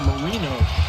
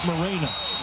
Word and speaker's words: Marino: It's Marino, not Mareno."